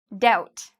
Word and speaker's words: doubt: Doubt. Again, if you like the band No Doubt, okay, with Gwen Stefani, her old band, you don't have to worry because you don't pronounce the B. It's just doubt.